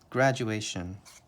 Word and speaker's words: graduation: is probably for a graduation grad QA tion graduation grad you a shun grad Jew Asian graduation